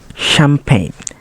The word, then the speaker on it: champagne: we letter G now G can be silent too think about the word sign champagne design or foreign and a combination of